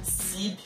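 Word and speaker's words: Seeb: em parceria com o trio de DJs Sib, o nome do trio se escreve S-E-E-B.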